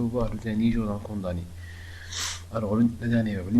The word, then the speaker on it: condamné: هاد condamné كتكتب condamné. شفتو كتكتب condamné ولكن كتنطق condamné مكتنطقش ام ولكن في اتونسيون ليكريتور لانه الا غلطت فيها يقدر يحسبها لك صحيح خطا.